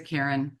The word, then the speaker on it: Corinne: District, Amy Carney and Corinne Warner. Warner's also in. I think she pronounces it Karen, whatever.